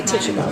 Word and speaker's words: Tituba: Is Tituba or Tituba or Tituba, however you want to pronounce it. Janet and I say Tituba. We say the name the most, so we got stuck in that.